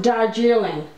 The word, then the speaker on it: Darjeeling: That's pronounced Darjeeling.